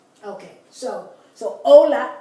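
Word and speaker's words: hola: say that's consistent but in Spanish it's never pronounced never okay so so Ola h o l a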